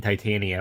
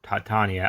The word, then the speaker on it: Titania: This comic starts with Jen and Titania, or Titania, I've heard both pronunciations, fighting, but they're not fighting.